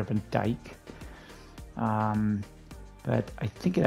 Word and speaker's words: Van Dyke: uh who is there Tyler van drike I think that seems to be a mispronunciation if I'm seeing this correctly I think it's Tyler Van Dyke um but I think